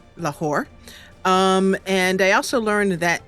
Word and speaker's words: Lahore: We are in Lahore, not Lahore, Lahore.